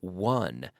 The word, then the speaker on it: won: I win yesterday I won w/o n11 and the pronunciation there is the same as the number one every day I win